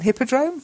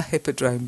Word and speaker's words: hippodrome: is a hippodrome an Hippodrome no a hippodrome because it's an aspirated H it's not like an hour where the H is silent so it's a hippodrome